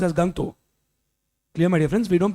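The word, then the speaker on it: Gangtok: spelling is gang but it's not pronounced as gang talk it's pronounced as gangto clear my difference we don't pronounce this gang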